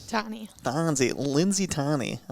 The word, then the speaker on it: Tonne: you say your last name tommy bonzi lindsay tony i like it a little french to it